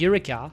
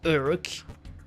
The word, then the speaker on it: Eureka: Eureka, Urk. No! Don't call me like that, Borisu. Please, don't. Don't call me like that. My name is Eureka, not Urk.